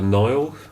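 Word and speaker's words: Nael: Spanish lady called Marta Nile. I think I'm pronouncing that right. Mhm. If anyone wants to look her up, it's spelled N A E L. Mhm. Rather than N I L E or something.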